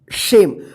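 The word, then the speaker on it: same: भवेल है ए रहे तो इस ए का ए उच्चारण होगा और ई का कोई उच्चारण नहीं होगा जसे सेम अगर इसको सेम में पढ़ते हैं तो गलत हो जाएगा जैसे य देखिए एन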